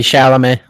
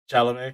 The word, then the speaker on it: Chalamet: Timothy Chalamet. Chalamet. Chalamet. Chalamet. Sorry, I gotta get fancy with it. It's not Chalamet. Chalamet. Um, Chalamet.